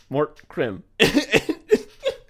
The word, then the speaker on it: Mort Krim: Two-syllable name. Just a two-syllable name. Mort Krim.